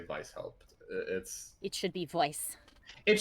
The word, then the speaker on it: Weishaupt: Well, since it's clearly German, I will say it with the hard V, soft trailing W.